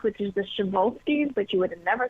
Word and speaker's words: Przewalski: you have the really tough horse name to pronounce, which is the Przewalski, but you would have never thought that's how you pronounce it.